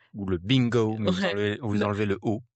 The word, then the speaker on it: 病: sera ce caractère qui se prononce ping h quon ouais ping B ouais ping donc si vous êtes fan de Friends penchz à chler Bing ouais mais attention on dit pas trop ping ou le bingo mais